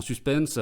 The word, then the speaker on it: suspens: En suspense, sans prononcer le S à la fin, en suspens.